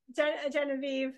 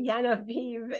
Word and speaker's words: Yenaiv: So, but the cute story is that she's always been called Genevieve, and her parents will sometimes say Yenaiv and or how do they say it?